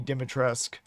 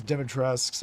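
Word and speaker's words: Dimitrescu: to pronounce her name and I know it's pronounced uh Lady Dimitresque.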